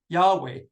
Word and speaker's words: Yahweh: I'm going to pronounce it Yahweh. It may not have been pronounced Yahweh.